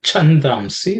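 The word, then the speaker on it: छन्दांसि: The second line, the chandamsi, the cha is the second letter in the cha varga, so it has to be aspirated.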